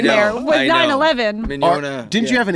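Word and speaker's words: Mignogna: first agent that I signed with looked at the last name and he couldn't pronounce it because it's got two silent G's because it's like spelled like mignon, like douche.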